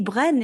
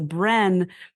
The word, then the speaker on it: Brenne: So Bren, spelled B R E N ne which felt like phonetic to how I was pronouncing it back then became the the name